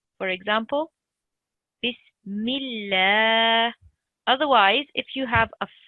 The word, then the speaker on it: بسم الله: One thing important to note is if you see Allah's name and before it you have a kasra, like here, or an E sound, then Allah's name is pronounced thin. For example, Bismillah.